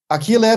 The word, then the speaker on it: Achille: continues we have a new very special guest akile polonara did i pronounce it well aquile yes you you pronounce very good hello everybody